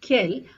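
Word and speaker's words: quel: l l e s so however the pronounciation Remains the Same for all four of them it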